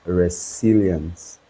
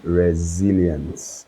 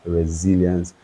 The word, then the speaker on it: resilience: of pronouncing it as resilience but it is actually resilience right right so the S is sounded as a z so the next time you meet your friend you tell them it is resilience and not resilience now